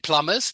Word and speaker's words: plumbers: uh plumber plumbers plumbers don't pronounce the B just because it's MB. Plumbers plumbers plumbers plumbers will last more than lawyers with AI.